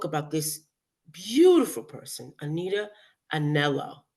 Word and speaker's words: Anello: So I'm going to talk about this beautiful person, Anita Anello. Am I saying it right? That's right.